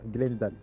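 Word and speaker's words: Glendale: Euh je viendrai pour acheter une Glandale. Je sais pas comment on prononce. Glandale. C'est bien ça. Glendal.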